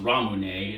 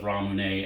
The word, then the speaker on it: Ramune: have tried this brand before i believe it's pronounced ramune it's japanese soda you can find it in